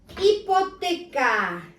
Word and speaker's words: hipoteca: Hipoteca. As I told you before, H is silent.